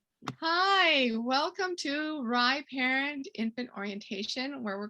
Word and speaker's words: RIE: are rye that's rie it's pronounced rye like the bread um and it stands